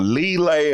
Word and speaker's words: Liele: brother, was George Liele, L-I-E-L-E, or Lile, or however you want to pronounce it. It starts with lie.